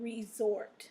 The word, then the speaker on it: resort: So your words are formal, gorgeous, normal, order, distort, import, inform, and resort. So those last four words have the stress in the second syllable, okay?